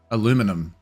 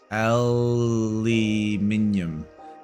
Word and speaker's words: aluminium: Aluminum. Aluminum. Aluminum. Aluminium. I can understand why people say aluminum. We just say aluminium.